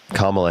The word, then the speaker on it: Kamala: Kamala Harris, yeah.